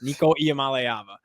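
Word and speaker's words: Nico Iamaleava: And learn how to say his name because that's like job number one in if you're going to like be in this industry is say names. Niko I am aava.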